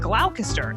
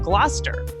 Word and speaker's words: Gloucester: Like originally I said Gloucester instead of Gloucester.